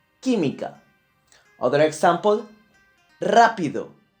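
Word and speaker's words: rápido: syllable Tamika other example rapido where is the absent yeah it's in the first cell level rapido and it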